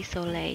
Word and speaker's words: Soleil: I think it's French. So it'd be Soleil. You wouldn't pronounce the last L.